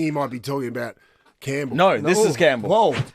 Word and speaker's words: Campbell: Campbell, I always wondered about Campbell. Where's the P and the B come from?